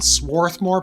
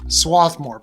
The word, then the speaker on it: Swarthmore: so I live in Swarthmore Pennsyl or swathmore Pennsylvania there's either an R there or not and it depends on whether you come from Delaware County Pennsylvania originally or the Philly area in which case it's